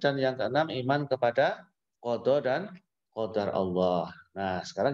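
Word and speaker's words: قضاء: Apa itu qada dan apa itu qadar? Coba anak-anak lihat di tayangan. Qada ini tulisannya kada, tapi bacanya qada.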